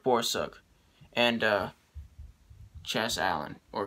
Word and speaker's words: Borsuk: four friends eric borsep did i say beau suck before it's it's eric borsuk and uh chas allen